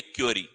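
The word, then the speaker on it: curie: आगे देखें तो ये हमारे पास में रेडियो विखंडन जिसकी इकाई होती है क्यूरी, क्यूरी, क्यूरी इसको प्रोनाउंसिएशन होता है।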